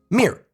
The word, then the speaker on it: mirror: You see, in my American accent, we smush everything down into one syllable. Mir. You could argue that the middle Rs disappear entirely. The British pronunciation, as is standard for them, ignores the final R.